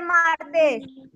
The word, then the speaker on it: martes: ¿Cuál es la sílaba de martes? Chicos, les voy a poner en este momento. Martes. ¿Dónde lleva? Martes o martes. Martes o martes. Mar. Mar. El mar, perfecto. El mar lleva el acento.